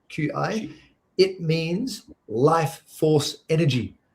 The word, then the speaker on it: Qi: Qi is pronounced Qi. Qi.